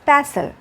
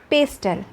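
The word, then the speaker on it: pestle: pastel p-e-s-t-l-e Paster but the correct pronunciation of this word is passel it means musal but somebody some persons are pronunciating this word pastel that's why I am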